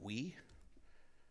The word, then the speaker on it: OOIEE: And so OOIEE is not a lot easier, but it's pronounced we.